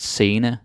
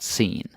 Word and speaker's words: scene: word sena in Danish we pronounce it sena not seen even though it's the same spelling sena that's how it is and sena Oh, all right.